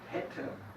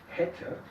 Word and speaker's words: hätte: Ya un ejemplo para la E corta hätte. Hätte.